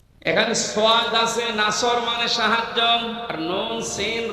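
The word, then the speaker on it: نصر: আছে নামাজে দাড়ানোর পরে এখানে সয়াদ আছে নাসর মানে সাহায্য আর নুন সিন র নাসর মানে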